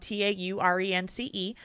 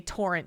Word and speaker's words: Taurence: John Doe name, spelled Taurence, because we'll always get these emails to say Torrent, Torrent. It's our generic John Doe name. It's like Lawrence, but a Tauren named Lawrence. Torrance.